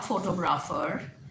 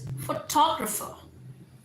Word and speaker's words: photographer: सो इट इज़ नॉट फोटोग्राफर, इट इज़ फोटोग्राफर. टॉ पे आपने stress करना है.